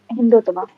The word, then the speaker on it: Hindutva: I'm sorry if I'm mispronouncing that wrong. The Hindu nationalist. Hindutva, is Hindutva.